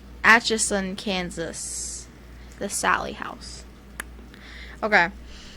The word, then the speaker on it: Atchison: Atchison, Just say itchy son. Atchison, Kansas.